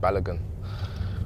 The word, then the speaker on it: Balogun: uh because I just told them how to pronounce my surname and I said balogun but then he said uh have you got